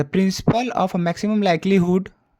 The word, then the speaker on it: likelihood: The principle of maximum लाइक्लीहुड, यहाँ पे would नहीं होगा, हुड होगा, स्पेलिंग में एच होता है, consist in a finding an estimate for a unknown parameter theta.